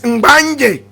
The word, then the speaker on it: Mbanye: Remember that the name Gonja itself, correct pronunciation is Mbanye. Mbanye, the Mbanye people.